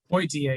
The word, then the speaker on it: Poitier: badly I felt for, help me with the pronunciation of the last name, but Taylor Poitier, yeah, you got it.